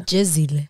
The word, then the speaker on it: Jezile: Is it Jezile or Jezile? You know they say Jezile now on BGT, but it's actually Jezile.